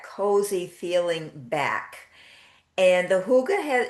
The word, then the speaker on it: Hygge: And the Hygge is, it's spelled Hygge, so it doesn't look at all how you pronounce it, but it is a Scandinavian word meaning hug.